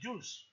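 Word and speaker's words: Joules: energía fotónica siendo por lo tanto medida en Jules no se van a olvidar se escribe J o u l e s j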